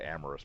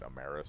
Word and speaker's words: Amaris: of star league and he's now doing the Amorous amaris however you want to pronounce it uh I always said it Amorous but now everybody I see on YouTube is saying it amaris so I I was wrong but it's ingrained into